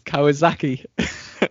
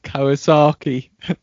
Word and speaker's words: Kawasaki: the phone and uh I had officially confirmed that the the pronunciation of Kawazaki is Kawazaki and not Kawasaki.